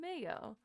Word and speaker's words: Mayo: The name is from the Irish words pronunciation Mayo, much like the condiment.